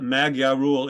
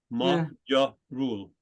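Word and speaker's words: magyarul: it looks like m-a-g-y-a-r-u-l where's the G sound because the gy is a combination letter that's the ja remember it's a combination it's not a magia rule it's your rule thank you okay okay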